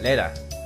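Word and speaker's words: Rena: Reina is one of my Lena. I should say it correctly.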